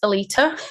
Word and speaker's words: Aletta: So my name is spelled Aletta, but it's actually pronounced Alita.